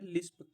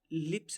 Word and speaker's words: lisp: फिर है लिस्प। लिप्स नहीं, लिस्प, LISP। इस पे इसकी स्पेलिंग भी देखना, लिस्प।